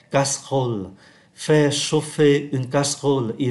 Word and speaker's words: casserole: thành 2, bởi vì âm tiết ơ ở ký tự ơ ở cuối không có đọc, và âm tiết có chứa được ký tự ơ nằm giữa cũng không có đọc.